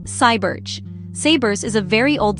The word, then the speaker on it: Sayburç: In this video, we're going to explore some amazing discoveries made at an ancient place called Sabers, pronounced Cybers.